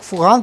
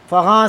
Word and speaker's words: فغاں: جواب ہے۔ سعدی فغاں، یہ اکثر لوگ فغان پڑھتے ہیں، یہ اصل تلفظ فغاں ہے۔ سعدی فغاں از دست